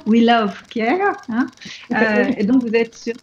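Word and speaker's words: Wh2el of Care: Et donc je rappelle une fois le nom, donc c'est We Love Care, W-H-2-E-L of Care, donc de soins, qui se prononce donc We Love Care.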